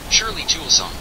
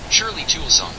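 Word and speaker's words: Shirley Toulson: to pronounce, so let us see the correct pronunciation. Shirley Tulson. I hope it's clear. Shirley Tulson. Once more? Shirley Tulson.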